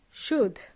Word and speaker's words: should: use use the word should should is similar to deas in Spanish and uh guess what the L is silent so the word should